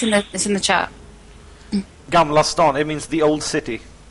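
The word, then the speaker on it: Gamla stan: How do you pronounce it? Gamlastan.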